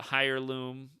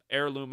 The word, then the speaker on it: heirloom: the stuff that says i always pronounce the word wrong but higher loom heirloom heirloom i think is how you say it but that stuff's still